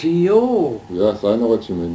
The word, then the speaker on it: Jost: my dad and in in in my language in Hungarian or the German language it would be that the J is a is a a y yes now you see